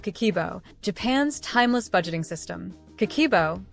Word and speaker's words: Kakeibo: the power of kibo Japan's Timeless budgeting system kibo pronounced kbo is a simple but powerful tool has been